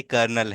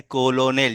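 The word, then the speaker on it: colonel: रहा है है ना इसमें ऐसे लिखा जा रहा है कोलोनल जैसे आपने पढ़ा इसको लेकिन इसका एक्चुअल प्रोनंसिएशन कर्नल है जो कि इस तरह से है कर्नल है ना इस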